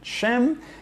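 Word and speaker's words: Shem: el acto le doy en sem es como se pronuncia en hebreo que significa su nombre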